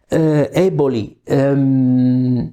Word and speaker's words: Eboli: This is the exact Italian pronunciation. Eboli.